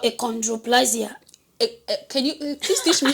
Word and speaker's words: achondroplasia: Yeah, symptom called achondroplasia. Can you please teach me how to say it? Achondroplasia.